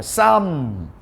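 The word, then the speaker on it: psalm: 피가 묵음입니다. 발음은 쌈입니다. 쌈. 우리 보쌈 할 때 쌈이야.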